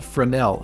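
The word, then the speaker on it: Fresnel: need another note here called frenel and it's spelled f r s n e l so it's a little bit weird just plug this into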